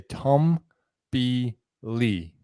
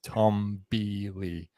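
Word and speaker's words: Toomb-Lee: stella but she was told supposedly to say tom b lee and now that's canon according to her the dm with her like she says tom b lee is how you say it which makes sense because you're tumbling um to to back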